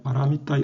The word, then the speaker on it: 바라미타: 그런데 우리가 여기 보면 알다시피 바라미타 원래 고대 인도 말의 발음이 바라미타입니다. 그렇기 때문에 바라미타의 음을 한자로 옮기면 바라밀타가 바라미타라는 원음에 더 가까운 것으로 보입니다.